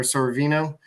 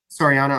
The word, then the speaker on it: Soriano: Now, today they face, what was his name, Soriano or Sorvino? But he actually... Soriano, I said it right the first time, but he's actually been pretty good this year.